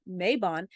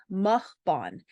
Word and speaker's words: Mabon: uh the first thing being that the English pronunciation of Mayon is not proper that the Welsh pronunciation is mbon so m a b o n so that